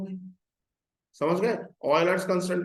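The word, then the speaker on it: Euler: ई for exponential, and which is called the ऑयलर, नॉट यूलर्स। हाँ, pronunciation होगा नॉट यूलर्स, इट इज ऑयलर्स constant.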